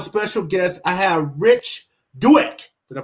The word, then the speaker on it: Douek: i have a special guest i have rich dewitt did i pronounce it right you did all right today